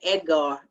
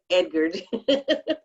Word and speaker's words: Edgard: original it's a well we say edgar oh but it is that is edgard we said we said it wrong don't forget about to